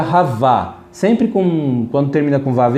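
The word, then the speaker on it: חַוָּה: E o nome Eva, você vê que pronuncia Havá.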